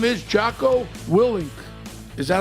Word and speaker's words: Jocko Willink: His name is Jaco Willing. Is that how you pronounce it?